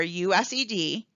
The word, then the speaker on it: USED: You can see the Title I federal grants are managed by the United States Department of Education or USED (pronounced US Ed).